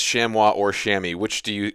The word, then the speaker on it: chamois: yeah there we go shamwa I think is how it's pronounced the proper way to pronounce it in French which is the work it's a French War okay so we're going